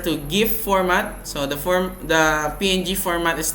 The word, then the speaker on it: PNG: And lastly is the PNG or ping. I think it's pronounced ping, okay, but I pronounce it PNG because it's more accurate, I think.